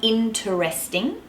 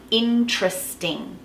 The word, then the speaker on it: interesting: a litora literally okay the same rule applies for interesting it's not interesting it's interesting so you just drop that vowel in between the T